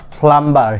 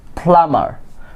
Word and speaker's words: plumber: অধিকাংশ লোকেরাই কি প্লাম্বার বলে থাকে, বাট ইটস নট প্লাম্বার। Here B ইজ also silent. Okay, it will be plumber.